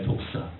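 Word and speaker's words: δόξα: 영광은요 헬라서 재밌는 발음이 나와요. 독사 전사님 한번 해 보세요. 아시죠? 영광이 뭐라고요? 독사 예 독사 독사 새끼 그러면 안 되고 그냥 독사라는 말 발음이 그래요.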